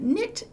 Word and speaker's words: knit: It's one of those tricky words that starts with a K, but that's silent, and it has an N sound at the beginning of it.